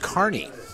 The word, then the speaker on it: Kearney: gonna struggle every time I say Kearney being from the Midwest Nebraska the same spelling it's pronounced Kearney so I have to translate back from Midwest speak second down Puka Stewart